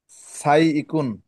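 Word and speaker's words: سائق: সাই ইকুন। সাতে একটু লম্বা করতে হবে।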